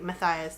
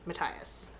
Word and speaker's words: Matthias: So yeah, I pronounced it like Matthias through the entire first book, and then I heard her pronounce it Matthias.